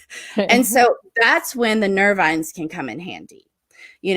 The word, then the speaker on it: nervines: of the big groups is called nerve Vines that's spelled n-e-r-v-i-n-e-s nervines and they are a essentially a group